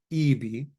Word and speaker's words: eb: We spell it eth-b, but it's pronounced EB, I can.